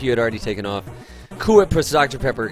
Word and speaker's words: Cool Whip: H where you say Cool Whip Cool Whip it's not cool whip it's cool whip Cool Whip why are you pronouncing the H what's up ier there